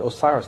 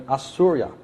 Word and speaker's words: Osiris: old name of Osiris they didn't pronounce it Osiris they called him assura the son the Indians